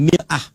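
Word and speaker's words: مرآة: Bahkan sering sekali orang Arab punya perumpamaan dengan mir'ah. Ya, kalimatnya sama, cuma cara bacanya beda. Al-mar'atu kal mir'ah. Yang satu pakai fathah, yang satu pakai kasrah. Muru'ah itu punya 3 arti.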